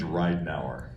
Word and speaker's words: Ridenour: I try real hard my last name's Ridenour like you're going to get in a car and ride for an hour never been pronounced right